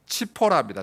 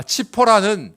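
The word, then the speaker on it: צִפּוֹרָה: 그래서 시보라가 모세 아내가 되는데 시보라의 히브리 원어 발음은 치포라입니다. 치포라. 아, 치포라는 원래 뜻이 작은 새 참새 같은 작은 세이 단어는 참새가이 잭째거리 잭째거리다 이런 말에서 왔어요.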